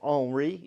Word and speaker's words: Henri: The French do not pronounce H's. So Henri in French is Henry in English.